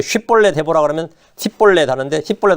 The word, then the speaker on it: 쉽볼렛: 근데 이 쉽볼렛 하면 이거는 요르단 동편 사람만 하는 거예요. 길앗 쪽 속은 쉽볼렛 하는데 에브라임 지파 사람 서쪽 사람이죠. 이쪽은 십볼렛이에요. 쉽이 아니라 그 쉽볼렛 해보라 그러면 십볼렛 하는데 십볼렛 하면 다 죽는 거예요.